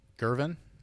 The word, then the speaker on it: Girvan: Is it Girvan? Correct. Am I pronouncing that right?